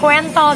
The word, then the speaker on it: Ko&thol: Ingat ya, Kuentol, dibacanya Kuentol.